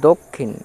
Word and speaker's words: দক্ষিণ: তারপর আছে দক্ষিণ, দ কয়ে মূর্ধন্য ষয়ে হস্যই মূর্ধন্য, দ কয়ে মূর্ধন্য ষয়ে হস্যই মূর্ধন্য, দক্ষিণ।